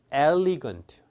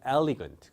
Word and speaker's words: elegant: elegant, elegant가 아니고 elegant, elegant.